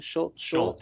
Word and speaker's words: Schultz: Schultz.